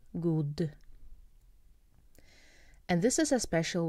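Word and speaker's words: guð: You can just spell good with de, but some people spell it with et, and it's still pronounced like a de, de, good.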